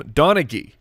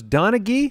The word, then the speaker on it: Donaghy: It's Tim Donaghy. They were specific about that? Yeah, hard G sound. I was going to correct you. Yeah, well, you would have been corrected. So it's Donaghy?